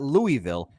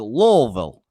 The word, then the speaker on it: Louisville: By the way, it's not Louisville, it's Louisville.